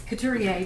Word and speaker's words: Couturier: Would you come forward and pronounce your... It's Couturier, but Couturier.